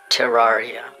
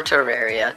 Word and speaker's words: Terraria: Today we'll be playing the game Terraria, or Terraria, depending on how you want to pronounce it.